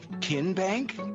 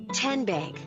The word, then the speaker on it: TN Bank: the name tn bank no kin bank uh-uh so what is it ten bank ten as in tennessee right here where all